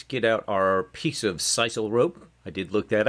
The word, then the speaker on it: sisal: All right, so let's get out our piece of sisal rope. I did look that up. That is the correct pronunciation, sisal.